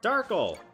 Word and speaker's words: Darkle: So if you're here to stop us, then I punish you with Madame Grape's power up Darkle. It rhymes with sparkle.